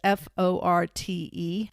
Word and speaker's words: Forte: Forte's name, and I believe I'm pronouncing that correctly, it's Forte. Forte, yeah.